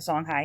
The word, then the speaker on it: Songhai: right now are uh the songhai which we spell with an i um the song high here in western africa